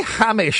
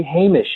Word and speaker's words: Hamish: You say Hamish all the time, and I'm just going, no! Guys, please! Well, yeah, we don't encounter that name very often. So we do what we can. If we were to say his name again, believe me, we've been corrected often enough by now that we would say Hamish.